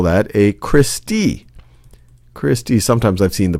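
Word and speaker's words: cristae: one of them you would call that a Christy Christy sometimes I've seen the pronunciation of this is Christy Christy or Christy that's plural for crista these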